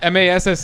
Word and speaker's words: Felipe Massa: You know how like, they pronounce error as It's R as in yeah. It's Massa and NASR.